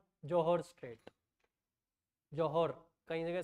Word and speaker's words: Johor: अच्छा, है जोहर स्ट्रेट. जोहर कहीं जगह स्पेलिंग मिलेगी JOHR, जोहर स्ट्रेट.